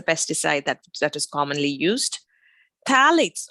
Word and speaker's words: phthalates: Phthalates or phthalates, as it's pronounced, that is found in plastic, again, is associated with early menarche.